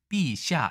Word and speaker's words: 陛下: 보시겠습니다 그대로 쓰고 있습니다 발음은 폐하는 아니고 삐샤 니다만 역시 그대로 쓰는 걸